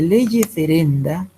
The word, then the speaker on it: lege ferenda: ferenda, así se llama, de leye ferenda. Leye ferenda significa tal y como debería estar constituido el derecho penal. Por contraposición a leye lata, lege lata se escribe ya, y lo otro es lege ferenda.